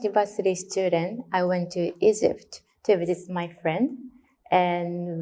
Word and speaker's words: Egypt: Now in English, the gy sound is quite hard, so "Egypt." I think she said something like Egypt or Egypt.